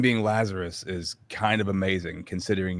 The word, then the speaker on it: Lazaros: It's Lazarus, but it's spelt Ah, with an OS. So most people say Lazaros, and the world does not revolve around my last name.